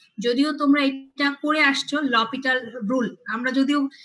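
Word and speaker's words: L'Hôpital: যদিও তোমরা এটা করে আসছো লপিটাল রুল, আমরা যদিও কি বলে অভ্যস্ত এল হসপিটাল রুল, তাই না?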